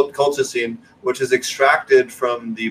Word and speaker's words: colchicine: from what generally speaking, the crocosine, or I mispronounce it, I think you pronounce it colchicine, which is extracted from